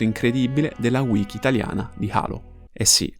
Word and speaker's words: Halo: della wiki italiana di Halo. Eh sì, lo sappiamo che in inglese la pronuncia giusta sia Halo, però noi siamo italiani e lo conosciamo come Halo.